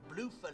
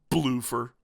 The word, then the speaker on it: Bloofer: Bloofer. This is actually canon from the Dracula novel. Bloofer lady equals a young poor person's way of pronouncing beautiful lady.